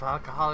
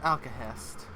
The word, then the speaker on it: Alcahest: Those sigils of alcohol exist don't know what hit them when they see my newly forged weapon. It's sigils of Alcahest. I wonder. Oh, he did pronounce it correctly.